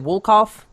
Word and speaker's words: Wolkoff: of your last name is it wool cough that's perfect and we so we have